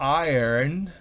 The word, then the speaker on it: iron: Fíjense cómo se pronuncia iron. Yo resalto, no es exactamente. Iron, pero irony, fíjense cómo cambia. Es irony y en el otro es iron, planchar, o iron, hierro o férreo.